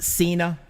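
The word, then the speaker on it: Sena: to call him is your last name pronounced cena yes it is kind of like john cena with an s okay you're probably the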